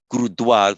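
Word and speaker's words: गुरुद्वारा: Gurudwar pronounced as a dwa.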